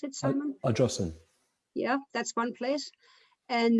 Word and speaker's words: Ardrossan: Was that how you pronounce it, Simon? Ardrossan.